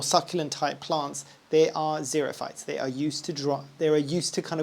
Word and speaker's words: xerophyte: Xerophyte. So xerophyte would be the way that you'd say it in English, I think. Pretty sure that's how you'd pronounce it.